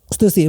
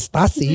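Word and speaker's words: Stüssy: Stussy, ingat ya bacanya Stussy ya. Stussy bukan Stasi, Stussy.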